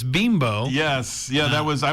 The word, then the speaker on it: Bimbo: that with uh the bimbo i guess everybody's calling it bimbo but it's beembo yes yeah that was